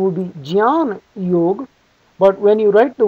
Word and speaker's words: Jnana Yog: The word is often pronounced as Gan Yog. In fact, that is the most popular way it's pronounced. The correct pronunciation would be Jan Yog.